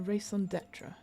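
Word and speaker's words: raison d'être: A raison d'etre, right?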